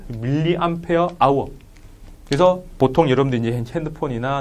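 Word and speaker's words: mAh: 다 위계가 이렇게 씁니다 뭐라고 읽어요 뭐아 이렇게 하면 안 되고 밀리암페어 아워 그래서 보통 여러분들 이제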